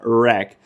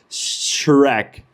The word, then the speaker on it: Shrek: Língua só na boca, arrasta a língua só na boca e fala Shrek. Shrek.